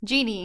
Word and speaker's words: djinn: print as pronoun is spelled Ginny with an eye at the end or Jeannie Jeannie like in a lamp yeah they're the same